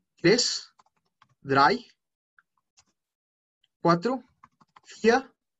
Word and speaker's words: vier: Cuatro, vier. Acá suena muy parecido a una fear y suena como si fuera fear en inglés, como miedo. Suena muy parecido. Listo. Eins, zwei, drei, vier, fünf, cinco, fünf, sechs,